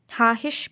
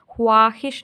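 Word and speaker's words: خواہش: अब देखें यहाँ पे वाव को हम नहीं पढ़ेंगे, इधर हम पढ़ेंगे लफ्ज़ किस तरह बोलेंगे, हाहिश, ख्वाहिश नहीं बोलेंगे, हम बोलेंगे हाहिश बताओ।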